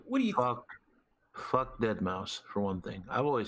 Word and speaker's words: Deadmau5: I'm not pronouncing that 5 like it's not an S. It's an S. The man's calling himself Deadmau5.